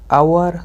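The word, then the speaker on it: hour: तो hair ऑनर honest आवर।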